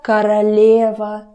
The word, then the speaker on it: королева: Это королева Елизавета. Это королева. Королева. Again, I'm never getting tired of saying about it. Vowel reduction. Королева, not королева. Open your mouth.